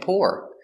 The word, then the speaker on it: pour: we have poor and poor they have the same pronunciation adjective poor he doesn't